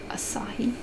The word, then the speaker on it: Asahi: we have this one the Spectre of Asahi is how you pronounce it so again the tethered